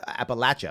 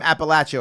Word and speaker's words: Appalachia: Appalachia, I'll say it right. People get mad at me. You're from Appalachia, or you're from the inner city, or insert